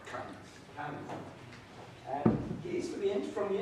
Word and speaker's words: Camiz: That is correct, Camiz.